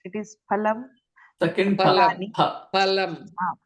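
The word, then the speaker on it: फलम्: Pa only, not fa. No, Fa. Fa is not there in Whole first. Pa. lot Phale. Phale. I did mistake. Phale, fa is pronounced. It is phalam.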